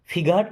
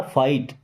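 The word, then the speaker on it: fight: फाइट का मतलब लड़ना फिट नहीं है जी साइलेंट होता है ना फाइट लेट देम फाइट मीस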